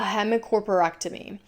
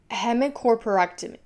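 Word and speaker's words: hemicorporectomy: The procedure called a hemocerectomy. Also so curious, why is that a procedure cutting someone in half? So I Googled that right. Google says hemicerectomy.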